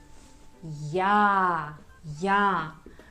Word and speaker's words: я: And the last letter is ya. Like in English word yard. Ya.